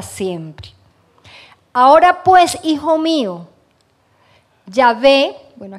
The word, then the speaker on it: Yahvé: Ahora pues, hijo mío, Yahvé, bueno, aquí en la Biblia aparece la Y, la H, la B y la H, no se puede pronunciar, entonces, bueno, vamos a decir Yahvé, sea contigo para que